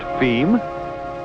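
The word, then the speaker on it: fim: And as for distribution within Brazil, F-I-M, pronounced feme, being, yes, you've guessed it, Portuguese for the end.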